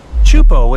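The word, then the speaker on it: Teahupo'o: Chupo in Tahiti also has some of the heaviest waves in the world, breaking over a shallow reef and creating intense barrel rides.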